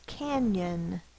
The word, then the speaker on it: canyon: The word is canyon. Canyon. Sound it out. K-A-N-Y-A-N. K-A-N-Y-A is the schwa. It's spelled with the O in this word.